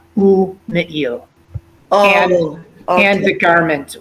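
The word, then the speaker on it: ומעיל: So in this case, we actually stop and then we pronounce the shva, ume'il.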